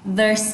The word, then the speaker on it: the: Các bạn muốn nói âm này nè, một số bạn hỏi cô là âm the này như thế nào thì chỉ cần thò lưỡi ra thôi và đẩy hơi ra.